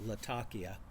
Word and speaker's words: Latakia: typically going to have Latakia or Latakia, as it's, I think, properly pronounced, because the place it's from is actually pronounced Latakia.